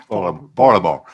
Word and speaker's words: Baltimore: We don't pronounce the T in Baltimore. Baltimore.